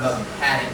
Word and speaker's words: mechanic: If you say the word mechanic, how do you spell the word mechanic? Mechanic. M-E-C-H-A-N-I-C. CHA, yeah, mechanic. So here the CHA part is pronounced as the part mechanic.